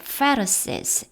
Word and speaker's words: Pharisees: The Pharisees, F 발음이고요.